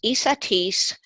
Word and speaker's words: Esateys: It's ESAT, like in Tom, EYS, like in stupendous.